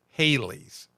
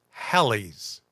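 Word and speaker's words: Halley: years ago, it was pronounced Haley's Comet. Uh there was even a group that was, you know, rock around the clock, Haley's Comet. blah blah blah. Um, but it's actually pronounced Hal's comet.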